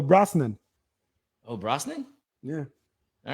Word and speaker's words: Brosnahan: Brosnahan. No, they probably go Brosnan.